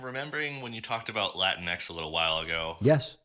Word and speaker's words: Latinx: I'm remembering when you talked about Latinx a little while ago. Yes. I mean, I never understood why people say it that way, Latinx, instead of like Latino, Latina, Latinx, like Kleenex.